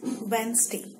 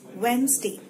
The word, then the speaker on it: Wednesday: what you tell so the right word is Wednesday so it's not 1 St it's not back Nestea it's Wednesday so coming up with the next word which